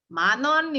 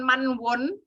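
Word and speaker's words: 만원: ribu nge-rap Man menonjok bacanya bukan manwon ya tapi Manon in Nida Yaman non ini tak guenya kayak dibilang kjb lebih cepat bicaranya bukan Man Won tapi Manon yang nomor 3 adalah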